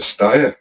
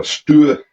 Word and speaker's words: Steyr: And it's a Steyr, or Steyr. Depends on how you want to pronounce it.